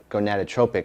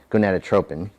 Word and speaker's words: gonadotropin: This is best for HCG testing, which would be human chorionic gonadotropic hormone. I may have mispronounced that. Gonadotropin.